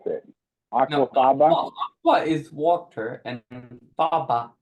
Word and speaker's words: Aquafaba: I can't even pronounce it. No, Aquafaba?